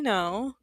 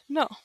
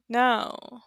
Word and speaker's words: no: So for example, how do you say no in Spanish? No. No. So in English you have like a little u right? No. No. But for us, it's just like an O.